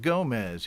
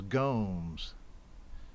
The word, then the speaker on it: Gomes: go jerry gomes and it's not gomez he told me it was gomes right rhymes with homes all right so soul